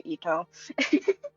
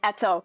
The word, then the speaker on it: Etto: Y'all are just going to be immediately sent to Itto. I mean Etto. Eto. I need to get used to calling him Etto. I'm not used to calling him Etto. It's pronounced etto.